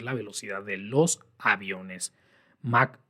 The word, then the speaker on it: Mach: cosa que el número Mach o Mach. De hecho, debí investigar cómo se pronuncia primero, pero es MACH, conocido en el uso coloquial, pues así, nada más, como Mach.